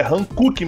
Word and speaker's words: Hankook: Rodrigo, só uma informação meio desnecessária, a pronúncia correta é Hankook mesmo, e só uma coisa, o nome, na verdade significa Coreia do Sul, a marca do pneu é Coreia do Sul.